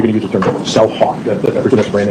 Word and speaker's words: CellHawk: You said you're going to use the term CellHawk. That's brand name. That's correct, yes. Spell that out for us, please. It sounds just the way it sounds. Yep, CELLHAWK. All right, thank you.